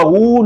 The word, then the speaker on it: who: WH is pronounced as who. Who. W is not pronounced.